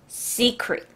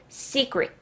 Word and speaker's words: secret: 쳐서 appl 담고 갈게요 secret secret 자 트 발음 들려요 맨 마지막에 있는 트 발음 잘 안 들리죠 secr 아니고 secret secret 그죠 sec it이라고 차라리 외우시는게 좋아요 비밀이란 뜻입니다 다음 거